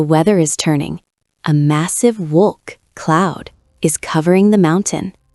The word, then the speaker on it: wolk: Wolk, cloud. W sounds like V.